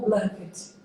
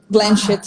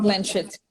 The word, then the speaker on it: Blanchett: Blanchet ou Blanket? Blanchett. Como é que pronuncia? Blanchett. Blanchett.